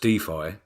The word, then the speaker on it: DeFi: who knows I'm glad that we've clarified it's pronounced defi because I've been throwing the word Dey around